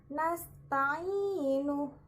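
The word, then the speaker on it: نَسْتَعِينُ: Kemudian contoh yang kedua ada nasta'inu.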